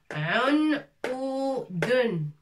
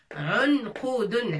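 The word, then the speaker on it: عُنْقُودٌ: Unqudun. Ain avec damma, ça fait un. Avec soukoun. Al-qaf avec damma, ça fait qou. Waouh. Qou. Dal avec, on a déjà vu dal aussi. Avec tanwin, ça fait dun.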